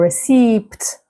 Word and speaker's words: receipt: Or receipt. But the P is silent.